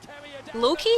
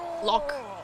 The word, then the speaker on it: Lok: 안 나오는 그런 픽을 Loki? Yeah. It's actually pronounced like Lok, apparently. Lok. Which is funny.